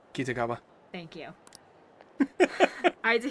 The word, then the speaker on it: Kitagawa: How are you actually supposed to pronounce his last name? Because that sounded wrong. Kitagawa.